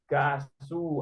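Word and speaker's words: 가수: su ini dibacanya gu gasu awas jangan sampai meleset g-nya hilang ya dibacanya gasu engak usah pegas ngomongnya nanti kayak orang marah entar lanjut masah masih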